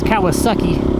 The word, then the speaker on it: Kawasaki: I didn't mispronounce that. It's Kawasaki. Suzuki, I don't think they